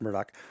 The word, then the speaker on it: Murdaugh: rolling it's murdoch podcast m-u-r-d-a-u-g-h even though it's pronounced murdoch merlot podcast we're gonna put up the family